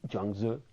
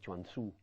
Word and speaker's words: Zhuangzi: Otro enormemente importante, o dos, que cada vez que los leo casi me entran en éxtasis, Zhuangzi y Lao Tzu. Ustedes aquí pronuncian Chuang Tzu.